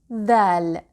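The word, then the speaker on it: ذال: The sister of dal is dhal. Dhal. Dhal is pronounced like the hard th in English, like the th in the word this or the word that.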